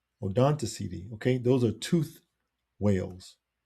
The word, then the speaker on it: Odontoceti: They are called toothed whales, or now I need to get the pronunciation thing. Where is it? Oh, there it is. Odontoceti. Odontoceti. Odontoceti.